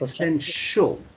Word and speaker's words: essential: Out of Essential.